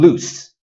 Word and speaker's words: loose: On the other hand, loose has an S sound at the end.